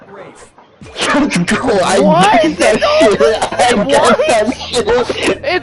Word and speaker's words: Ralph: Yep, Rafe Fine's first name is spelled like Ralph, but pronounced Rafe.